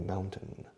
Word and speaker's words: mountain: Fijaos en la pronunciación de mountain. Mao, como el dictador chino, o como la cerveza española, Mao, cerveza Mao. Mountain, añades un N, mountain, y luego el número 10, 10, mountain.